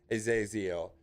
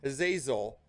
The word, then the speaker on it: Azazel: How do you say fucking Azazel?